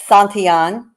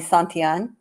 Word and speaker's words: Santillan: It's Santillan, Giovani Santillan. Santillan, my apologies. Thank And you. yeah, he gets his last name butchered a lot.